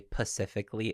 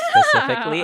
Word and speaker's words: specifically: I had a boss who used to say pacifically instead of specifically, and it drove me up the wall.